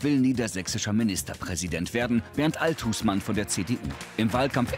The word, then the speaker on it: Althusmann: aussprache ihres namens klären seit neuestem legen sie wert auf die betonung auf der zweiten silbe also althusmann warum jetzt noch nicht